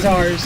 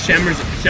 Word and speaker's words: scimitar: We're saying it wrong. Scimitars. Scimitars. That's yeah, there's an M. I was like, Yeah. it's a real hard M and an I is harder. So it's scimitars.